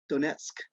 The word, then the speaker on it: Donetsk: pronounce that for me because i think i'm pronouncing it wrong go nuts donets donetsk okay yeah uh so they want to take